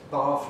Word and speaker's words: bath: And bath goes with start, which means that bath rhymes with half.